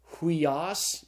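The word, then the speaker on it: υἱός: Upsilon iota is pronounced hui, as in sweet. And so the Greek word is pronounced huios.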